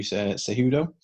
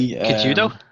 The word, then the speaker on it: Cejudo: We are obviously talking about Henry Cejudo. I'm glad you got this one, Carl. I would have not pronounced that right. So would have been like Kijudo.